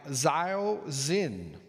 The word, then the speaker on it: Zhao Xin: It's by Lisa Bullard and has pictures by Zhao Xin, yes. A Z sounding name spelled with an X.